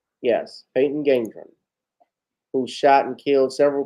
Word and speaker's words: Gendron: How do we pronounce his last name? Gendron? Peyton Gendron? Yes, Peyton Gendron, who shot and killed several people at a Tops grocery store out in Buffalo.